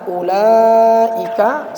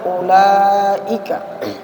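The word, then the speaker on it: أولئك: Ya, baik, di sini ada pelajaran ulaika sama dengan ulaika. Jadi dia bacanya sama tapi tulisannya beda.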